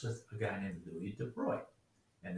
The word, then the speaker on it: de Broglie: a guy named louis de bruy and that is the correct french pronunciation don't say broccoli it's moving to boy